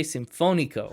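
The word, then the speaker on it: Sinfónico: You put the accent on the wrong. There's literally an accent above that O. Whoops. That's okay. Well, then you say it. Nietzsche Sinfonico. Sinfonico. Yeah, that's what the little accent is, where you put the stress.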